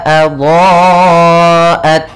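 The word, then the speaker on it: أَضَاءَتْ: Sehingga panjangnya kita panjangkan dulu cara membacanya yaitu adha'at. Panjangkan dulu dha-nya baru ke a.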